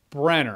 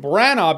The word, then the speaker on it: Branagh: I heard him say it's pronounced Kenneth Branagh, like Bruce Banner. Brenner. But everyone still pronounces his name Branagh because that's how it's spelled.